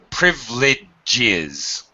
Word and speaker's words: privileges: can pronounce it but very often native speakers drop it it's Ellipsis we just